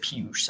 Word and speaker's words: Puig: Watching the U.S. Open, that was how they pronounced it. It wasn't Puig like Yasiel Puig of Los Angeles Dodgers fame. They said Puge. I'm going to call him Puge until told otherwise.